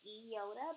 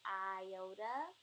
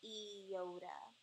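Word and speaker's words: ἰῶτα: here it's called the Yoda but many people say iota um but it's actually pronounced Yoda so everything that this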